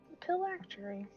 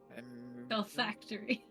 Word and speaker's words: phylactery: Well, we're gonna go look for a phylactery. Phil Factory. Phylactery. However Galaxy Or Galaxy's like, no, it's pronounced Phil Factory, Oh, Paria.